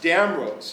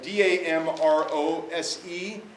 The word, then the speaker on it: Damrose: And then we get to this building here by Arthurs Damrose, and it's spelled D-A-M-R-O-S-E, or the original spelling is D-A-M-R-O-Z-E.